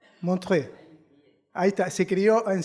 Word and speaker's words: Montreux: ¿Se pronuncia bien? ¿Montreux? Montreux.